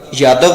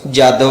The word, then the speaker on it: یادو: تھا۔ ہری کرشن کا لقب یادو تھا، جس کا ایک تلفظ جادو بھی ہے، اس لیے چندر ونشی